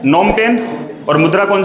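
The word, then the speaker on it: Phnom Penh: इस देश की राजधानी, तो देखिए राजधानी को लिखते कुछ इस प्रकार से है इंग्लिश में, और हम लोग इसको प्रोनाउंस करते हैं हिंदी में नोम पेन।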